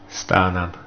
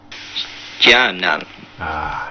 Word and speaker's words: Stjarnan: And we've got some pronunciations for you. This is an Icelandic team, famous for the celebrations. Starnan. Starman. Stjarnan.